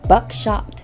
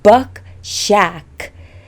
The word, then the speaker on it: Buck Shack: be tasting the 2018 buckshot cab i'm saying it wrong buck shack cab let's get into it